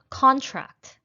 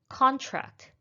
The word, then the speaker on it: contract: a verb it should be address next one contract contract we sign the contract to our new apartment